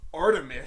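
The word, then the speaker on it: Art3mis: oh my god, it's Artemis, pronounced Artemis.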